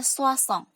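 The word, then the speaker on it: soixante: Ya, cara pengucapannya sengkong. Lanjut 60 ada soissong.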